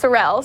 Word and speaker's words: Sorrell: Well, it's pronounced Sorrell, so Sorrell. let me say it right first. I messed that up.